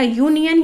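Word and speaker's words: union: तो बच्चों आप इसको प्रोनाउंस करेंगे, प्रोनाउंस करने पर आप देखें यदि य की साउंड आती है, जैसे यहाँ पर आप बोलेंगे तो आएगा यूनियन, यानी य की साउंड आ रही है जो कि कॉन्सोनेंट है, तो आप इसके पहले अ लगाएंगे।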